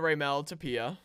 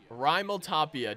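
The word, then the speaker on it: Raimel Tapia: we're gonna bring in to remelt appiah Rimel Tapia dude I was I was so wrong in that pronunciation and we're gonna try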